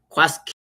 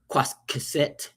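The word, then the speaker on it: קשקשת: It's a kuf. Again, this is me bringing my English pronunciation to the letter Q, right? But the kuf is a k sound. So it's qasqeset, rather say qasqeset, right? It's different. It's a little different to a K. It's supposed to have a little bit of a deeper in your throat, sort of a, right?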